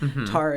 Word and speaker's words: Tara: Tara, like the substance.